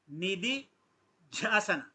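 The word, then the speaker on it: निदिध्यासन: First the doesn't have any stress. Nididhyasana.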